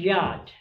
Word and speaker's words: yacht: transient pronunciation and asparagus are concerned it is pronounced yacht see yaa CFG yacht ash literal meaning is